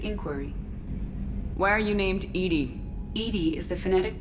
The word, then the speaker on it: EDI: have a specific inquiry why are you named Edie Ed is the phonetic pronunciation of e d i that is an